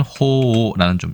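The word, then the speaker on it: 鳳凰: 설명도 있었습니다 그 다음에 봉황이라는 한자를 쓰고 우리는 봉화로 있지만 일본에서는 호오라는 좀 다소 특이한 녹음으로 읽고 있습니다 갑자기 오동과 봉황이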